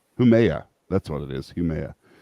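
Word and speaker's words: Haumea: Yeah, Hinami, or I can never say her name right. Humea, that's what it is, Humea.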